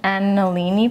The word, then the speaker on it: Angelini: using a press today this is an angelini press is how you say it and alini so that's